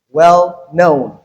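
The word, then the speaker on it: well-known: well known. So in this case the stress is on the second word in the compound. So we have well unstressed and then known stressed we have drop out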